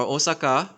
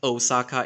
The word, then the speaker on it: Osaka: But it's like when you go to like Kyoto or Osaka. By the way, it's not pronounced Osaka, it's Osaka.